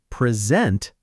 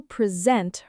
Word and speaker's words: present: But if I say present, that's a verb, to give or show something. She will present her project on Friday, to present. Same spelling, same letters, but completely different stress, and completely different meaning.